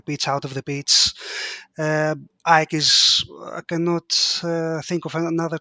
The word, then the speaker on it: AEK: We call it AEK. So that in case that I say it and sounded weird, but for us it's AEK. Aye. We ignore the initials and we read it. We spell it as a word.